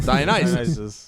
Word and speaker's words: Dionysus: But yeah, how do you guys feel about Dionysus.